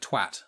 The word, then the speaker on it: twat: Because like the word, how Americans say it wrong, but the word twat, and Americans say twat, which is, it's got an A in it.